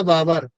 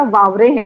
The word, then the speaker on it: वावरे: मेरा नाम वावरे है। हाँ, वावरे। बाबर है। मैं बेसिकली मैं महाराष्ट्र से हूँ। हाँ हाँ, ओके सर। वो होता है प्रोनाउंसिएशन में थोड़ा सा प्रॉब्लम वावरे में।